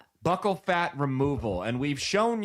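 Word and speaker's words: buccal: She got what's how do you pronounce it? Bul fat. Buckle fat. Buckle fat removal.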